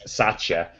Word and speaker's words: Satya: Because it's Satya. Thankfully I listened to a video when someone else said it. I went, oh, okay. Because I kept thinking like Satya.